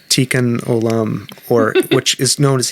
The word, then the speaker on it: Tikkun Olam: gonna my Jewish friends help me with this pronunciation. Tikkun Olam. Tikkun Olam, or which is known as healing the world.